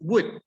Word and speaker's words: would: pronunciation all right it's wood wood wait you don't pronounce let me create something here yes we don't pronounce the l never will never this